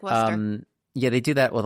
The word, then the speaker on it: Worcester: pronounce it Leicester, but you just get rid of some vowels and consonants and just say Leicester. It's like Worcester.